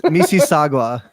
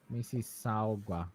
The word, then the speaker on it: Mississauga: It's Mississauga. Mississauga. Okay. There's no gua. It's just ga.